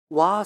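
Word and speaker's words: 和: 것입니다 그다음 한번 보여주시겠어요이 와 사상이라는게 있어요 이게 한자로 화학자인데요 그 나라 이제 발음으로 와라고 합니다 이게 여러가지 이걸 위해서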